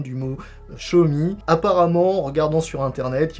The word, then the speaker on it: Xiaomi: bonne prononciation du mot schumi apparemment en regardant sur internet une vidéo du ceo du président de la compagnie qui explique qu'on doit dire schumi comme montre moi en anglais on est resté sur